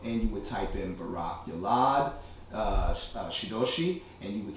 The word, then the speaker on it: Barak Yalad: you have a very long name can you spell it slowly yes yes my name is barakulad b-a-r-a-k space y-a-l-a-d sensei okay and that is